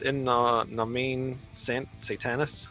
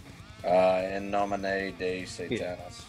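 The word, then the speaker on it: In Nomine Satanas: In Nomine Satanis. Am I saying that right? In nomine de Satanis. Yeah. There's no day in there, just in nomine.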